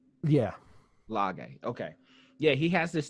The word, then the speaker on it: Lage: Lage.